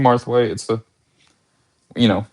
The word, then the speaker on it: Marthwaite: this layout to shows, they think it it's supposed to say Mweight and they're like, "You got the name wrong." And I was like, "No, it's it's supposed to be Martha.